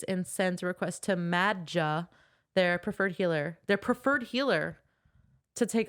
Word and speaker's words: Madja: I think in the books they pronounce it Madja.